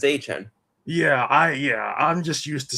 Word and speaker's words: Travis Etienne: They pronounce it as was it Etienne, whatever it is, or Etienne. Yeah, he says it's Etienne.